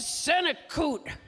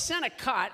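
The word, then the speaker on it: Senokot: Sen accout watch the Senate coot well first of all it's Senate cot it's been around forever it's phonetically spelled Santa coot what is that and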